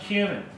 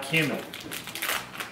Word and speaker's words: cumin: This is pronounced cumin. Not to be confused with any other activities like cumin.